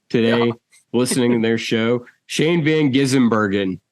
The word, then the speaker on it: Shane Van Gisbergen: Shane Van Gisbergen. Like, what? It's not hard. It's really not. It sounds how it's spelled. Sound it out.